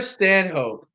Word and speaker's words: Stanhope: Connor Connor Stanhope. His last name is spelled Stanhope.